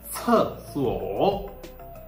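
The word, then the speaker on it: 厕所: So if you have to take care about two aspects, it is like C is pronounced like the TS at the end of tests, and it should be aspirated.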